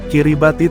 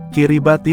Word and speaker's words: Kiribati: Kiribati merupakan lafal pengucapan orang lokal dari kata Gilberts.